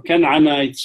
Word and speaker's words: Canaanites: And these Canaanites, or Canaanites, if you want a more proper pronunciation, Aramaic, are people who domesticated, and this is their depictions, by the way, by various civilizations.